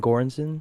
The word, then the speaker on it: Göransson: Apparently, they said that, like Ludwig said that, how do you pronounce his last name? Goranson? Goranson, yeah, Ludwig yeah, yeah.